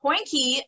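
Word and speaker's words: hondjie: for sure okay so poinky uh first of all poinky is spelled h-o-n-d-j-i-e it simply means puppy in afrikaans so small dog um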